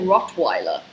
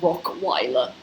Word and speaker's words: Rottweiler: Well, I say Rottweiler, not Rockweiler.